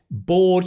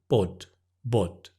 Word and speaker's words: bored: And so a lot of students might say bod, bod. But the o is or. You have to stretch the vowel and exaggerate it.